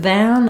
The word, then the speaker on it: than: um full pronunciation ation because this word is unstressed it's unimportant and therefore its vowel gets reduced so if I'm trying to make very clear that I'm saying the word than I can say you